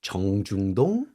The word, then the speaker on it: 정중동: It's often termed as 정중동 or 동중정. Can you pronounce this? Can you repeat, please? Okay, 정중동, 정중도, 동중정.